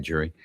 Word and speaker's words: Jury: Jury said, it is pronounced, I said it right, Jury.